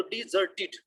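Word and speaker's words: desert: हो गया कि उसको हमने पढ़ना है डै और इसको पढ़ना है डी। तो डिजर्टेड, डिजर्टेड, और इसी तरह आगे जो लफ्ज है उसको भी डी पढ़ना है, डिजर्ट, यानी उसमें भी आर को प्रोनाउंस नहीं करना, लेकिन उसमें भी DE को डी पढ़ना है, इसमें भी डी पढ़ना है 20 में, बट जो 19 वाला उसमें डै पढ़ना है। डेजर्ट, डिजर्टेड और डिजर्ट।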